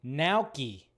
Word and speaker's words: gnocchi: It's gnocchi. That's what it is. Gnocchi. And I was like, oh yeah, that's got like it's got a G and an N, so obviously the G is silent because our language is so weird.